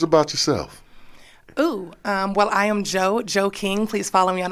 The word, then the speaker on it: Jeaux: Well, I am Jo King. Please follow me on all social media platforms. Jo is Creole, guys, so it is spelled Jeaux.